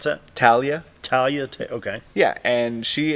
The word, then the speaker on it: Talia: How you pronounce that? Talia.